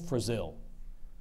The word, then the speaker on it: frazil: the language of origin word passed from Latin to French to Canadian French frazil are there any alternate pronunciations frazil frazil frazil f r a